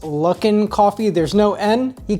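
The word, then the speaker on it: Luckin: calls every month along the way example two Lunken coffee now as another commenter had pointed out it's actually pronounced luck in coffee there's no end he called me a maniac I think Lunken sounds better and I recommend that they changed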